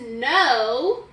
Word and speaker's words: know: This is know, like I know something, and this is no, okay? So look, like no this way is spelled with a silent K, okay?